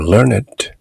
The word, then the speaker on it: learned: Intellectuals like to appear learned and to be called wise. Intellectuals, 지성인들은 learned, 박식한 것처럼 보이기를, 나타나기, 그렇게 보여지기를 좋아하고 like to appear learned, learned라고 발음하지 않고 learned라고 발음합니다.